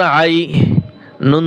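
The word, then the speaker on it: عينٌ: আইন ইয়া জবর আই, নুন দুই পেশ নুন, ইকফা গুন্না। এই তানহুইনের পরে জিম আসছে, ইকফার হরফ আসছে, এখন ইকফা গুন্না হবে।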